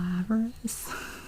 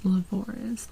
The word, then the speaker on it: Lavoris: Because the first time I saw this, I was like, I don't know, Laveris. And she said it's Lavoris, like Dolores, or other things that rhyme with that.